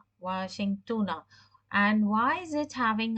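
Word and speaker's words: واشنطنَ: So this is the name of the city in US, and it's pronounced in Arabic as Washingtona. Washingtona.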